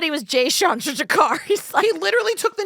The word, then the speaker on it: Chandrasekhar: I can't pronounce his name and I don't want to butcher it. Can you?" It's Jay Chandrasekhar. He was in the Super Troopers movies. He said he was Jay Chandrasekhar.